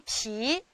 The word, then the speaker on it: 脾: 这个字念脾，脾气脾脏的脾。